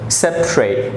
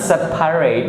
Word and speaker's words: separate: Separate, separate. This is not separate, it's separate. 2 syllables.